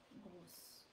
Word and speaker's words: gros: Oh, let's say gross. Gross. Alors, gross would be for the feminine. Oh. For the masculine, because livre is still masculine, we do not pronounce the sound.